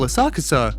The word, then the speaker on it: Asakusa: translate to shallow grass senso comes from the Chinese pronunciation while asakusa comes from the Japanese pronunciation but that topic is